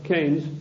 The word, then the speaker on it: Keynes: or keynes he said keynes was a better word because it arrived with it rhymes with brains and this is the